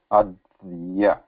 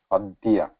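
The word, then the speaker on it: अद्य: So though we write like this, many of the words, this is the pronunciation adya, double the adya, because we are putting a emphasis or double the kind of thing adya.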